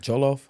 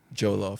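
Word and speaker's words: jollof: version let's go yeah so this is called joloff joloff so it's spelled j o l o f isn't that amazing how jumbalaya and joloff sound the same uhhuh uhhuh the Creole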